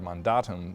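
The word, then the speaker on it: mandatum: Maundy Thursday because of the latin word mon datum or the way it's pronounced in english mandate or command and so it's the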